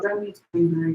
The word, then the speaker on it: Rumi: So this is the Rumi, or Rumi, I pronounce it, Oracle deck.